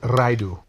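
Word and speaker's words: Ridu: R-I-D-U. Redo Lottle. Don't like these? Try again with the same. I pronounce it Raidu.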